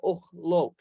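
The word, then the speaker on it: אוֹכְלוֹת: Okay, notice we have two holem here. That's how we get the O sound. And then notice we have the shava, which ends the first syllable here. So we get och, and then it continues with lamed, holem, tav, ochlot.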